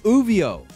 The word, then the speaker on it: Ouvio: He goes by the name Uvio on Twitch, Uvio, and that's spelled OUVIO_.